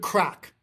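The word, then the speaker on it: craic: It's having a good crack. And what crack is, I believe they spell it c r a i c.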